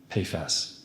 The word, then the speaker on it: PFAS: How do I pronounce that? PAS.